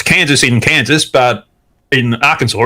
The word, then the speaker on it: Arkansas: let's get into uh this bit of news our kansas passes bill to allow emts and doctors to refuse to treat lgbtq people this is yeah it's pronounced arkansas arkansas yeah you don't remember bill clinton he was